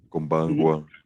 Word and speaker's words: こんばんは: Konbanwa. Konbanwa. Hai. Arigatou gozaimasu. Renata-san. Sí. Ujú. Ohio. Konnichiwa. Hai. Konbanwa. Hai. Konbanwa. No, recordemos poner el acento un poco en la última sílaba, ¿no? Konnichiwa, konbanwa.